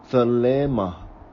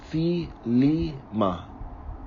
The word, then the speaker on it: thelema: Classical, thelema. Aramaean, thelema. Modern, the lima.